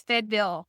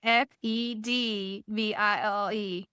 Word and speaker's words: Fayetteville: Okay, so it's Fayetteville. Yes, that is And it's like Fedville. Fayetteville. And it's almost one syllable. So you have to say it kind of quick, Yeah, absolutely.